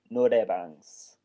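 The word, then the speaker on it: noraebang: In Korean, they're called norebangs. Can you spell that for me? Which is NORAE, and then bang, BANG, which literally translates to singing room.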